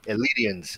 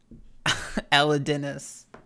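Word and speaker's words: Elidinis: what robes are these pop quiz i know elidians elite ropes i know my runescape come on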